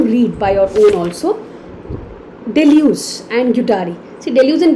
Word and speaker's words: Deleuze: इनका जो main focus था Deleuze का, that's how it's spelled. Deleuze. Deleuze.